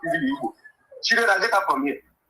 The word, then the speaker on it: Igbo: Whereby our original pronunciation of our name is Igbo.